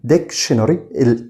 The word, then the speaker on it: dictionary: طيب كلمة قاموس، القاموس بنقول عليه dictionary، خلي بالك كده dictionary TION بنقول عليها شن، خلاص عرفنا المقطع ده.